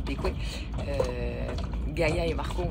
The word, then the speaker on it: Bequia: Et grande première cette semaine en fait en arrivant à en fait ça s'écrit Bequa mais ça se prononce Bqué.